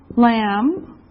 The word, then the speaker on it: lamb: Lamb. Lamb. Remember this is silent. The B is silent.